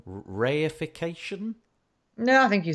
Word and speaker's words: reification: Reification? No, I think you said it right. Oh, I mean, in English. I was paying attention. Reification, it comes from Latin res, which means thing or object.